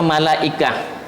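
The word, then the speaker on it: ملائكة: ikut-ikutan saja ya malaikat ya malaikat gitu ya pengucapannya malaikah jadi bentuk tunggalnya malak kalau itu ee malaikat Ya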